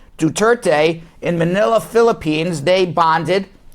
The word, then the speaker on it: Duterte: Trump and President Duarte, am I pronouncing him right? Duterte, in Manila, Philippines, they bonded.